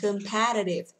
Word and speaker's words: competitive: Từ này là competitive. Competitive, chọn âm từ thứ hai nhá các bạn ơi.